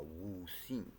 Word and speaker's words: Wu Xing: It's also spelled with an H sometimes. Wu Xing. So Wu Xing with an X.